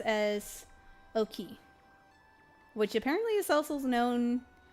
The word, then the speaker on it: Oki: What is Oki?